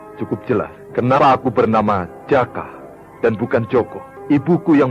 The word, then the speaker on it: Jaka: Kenapa namaku Jaka, bukan Joko? Seperti umumnya lelaki muda di Jawa Timur. Aku tahu, karena di daerah Pasundan, Joko akan diucapkan Jaka.